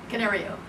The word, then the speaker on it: Canario: Did I pronounce that correctly? Canario.